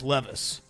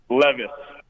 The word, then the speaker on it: Levis: Uh, we listen, we know how to pronounce names. Levvice.